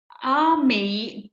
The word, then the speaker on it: amigurumi: I have to ask, how do you say it? Amigurumi? It's amigurumi. Amigurumi.